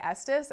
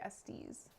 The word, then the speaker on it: Estes: a regional thing and that in like southwest, Midwest, uh, west coast it's people tend to say Estus and on the east coast people say Estes.